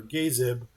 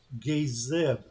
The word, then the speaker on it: Gazib: the Great Gazebo, or Gazib. That would probably, if you use the right pronunciation on that, it would be a long A and a soft I. Gazib.